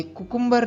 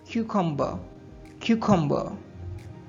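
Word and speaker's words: cucumber: हम कुकुंबर बोलते हैं य कुकुंबर नहीं होता है इसका सही प्रोनंसिएशन है ककं क्यू कंबर नेक्स्ट वर्ड है रशीद जिसको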